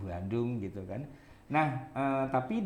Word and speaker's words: Bandung: Tapi dalam bahasa yang baku tidak dikasih M itu B saja, Bogor, Bandung walaupun melafalkannya dengan M Bandung, M Bogor gitu kan.